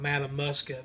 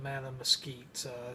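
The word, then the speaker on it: Mattamuskeet: as mad at Mesquite it's not madam musket but madam Skeets just want to point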